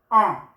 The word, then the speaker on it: ans: Tu as 18 ans. Tu as 18 ans. Tu as 18 ans. 18, and then ans will be written with an S, but the S is silent. It's not pronounced.